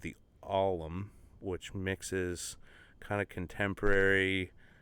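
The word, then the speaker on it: Ollam: i just spell it you said the alum the alum yeah and it's spelled weird it's about uh o-l-l-l-a-m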